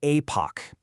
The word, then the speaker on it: Aepoch: Again, pronounced Apoch.